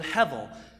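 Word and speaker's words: הבל: is translated this word Hevel that's the word that's not how it's spelled because that's English but it's the word Hevel it's used 37 times in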